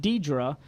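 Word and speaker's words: Deidra: name problem she said my name is pronounced Deidre but I usually get everything but that because I've given up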